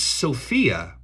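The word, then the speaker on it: σοφία: the word for for uh for wisdom is Sophia written just like it's spelled as the girl's name s-o-p-h-i-a Sophia and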